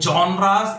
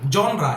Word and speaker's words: genre: going to explain the genres in English writing. Genre, actually, इसको genre नहीं बोलते हैं, genre. The correct pronunciation is genre.